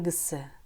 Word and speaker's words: кісі: В слове «кісі» в этом предложении звук «к» произносится как «г», потому что она идет после гласного. Ана кісі, ана кісі, анда-мында жүріп, анда-мында жүріп, бір шешімге келе алмады.